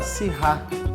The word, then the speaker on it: Syrah: Toda a cocção que você for utilizar vinho tinto, o ideal é você utilizar da uva Syrah ou Shiraz, né? Tem esses dois tipos de pronúncia, tá?